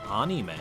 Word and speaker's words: anime: yes an anime chat is pronounced anime soft ah the more you know